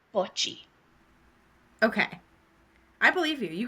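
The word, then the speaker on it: Botchwey: and her last name is spelled B O T C H W we E Y. But I listened to her say her name and I think she said butchie.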